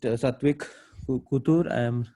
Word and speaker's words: Satwik Kottur: So I'm very happy to host Satvik Kutur. If I'm right in pronouncing.